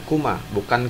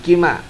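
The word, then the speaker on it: كُمَا: Selanjutnya antuma tarji'ani ila baitikuma, ya, antuma sama dhamir mutasilnya kuma, ya, dalam keadaan jar sama dibacanya kuma, bukan kima, ya, dibacanya sama, kuma.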